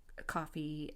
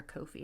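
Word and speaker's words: Ko-fi: know there's like uh coffee and or I don't know if it's supposed to be coffee or coffee I think it's supposed to sound like coffee but it's spelled KO Dash fi and other platforms like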